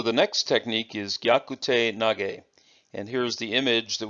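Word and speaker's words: 投げ: means hand and then the third character is nage which means throw now the first two characters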